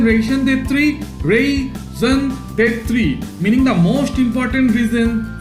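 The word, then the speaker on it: raison d'être: Our ration, what is the pronunciation? Ration de three, raison d'etre, meaning the most important reason for somebody's or something's existence.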